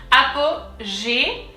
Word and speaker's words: Apogée: The first syllable is going to be apo, very simple, apo, kind of simple, same in English. APOGÉE. And then here, as you can see, there are 2 E's. The first one has an accent. It's an accent aigu and it's pronounced E.